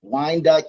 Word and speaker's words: Wyandotte: So, yes, Vanessa, you did say it correctly, Wyandotte County, also known as the DOT for short.